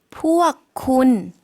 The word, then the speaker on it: พวกคุณ: พวกคุณ 네, 군 당신이었는데 앞에 단어에 포억만 붙여주시면 당신들이 되겠습니다. 그들도 마찬가지겠죠?